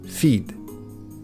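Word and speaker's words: fid: So, Scottish Gaelic fiag, Irish fia, and Old Gaelic feed, Proto-Celtic widus. all meaning wood.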